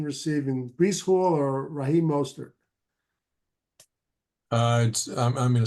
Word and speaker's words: Mostert: Who's going to have more, Breece Hall or Raheem Mostert? And by the way, how do you pronounce his name, Ralph? Mostert.